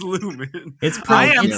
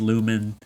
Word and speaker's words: Lumon: I can't let lumon slide right Lumen it's Lumen only into episode two of season 3 or season it's spelled lumon it is pronounced Lumen uh like Pokemon yeah Pokemon but yeah po